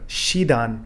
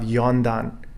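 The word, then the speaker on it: 四段: example as i mentioned instead of shidan we have yondan instead of shikai for four times we have yong kai instead of sichido for seven times we have nanado instead of shiji for four o'clock we have yoji so we see the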